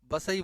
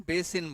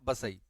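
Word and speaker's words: वसई: सब कुछ मौजूद है इसका जो नाम आज प्रोनाउंस कर रहे हैं बेसिन बोल रहे हैं क्या बोल रहे हैं बेसिन अंग्रेजी में बेसिन बोल रहे हैं जगह का नाम लोकल स्तर पर क्या है बसई महाराष्ट्र में यह महाराष्ट्र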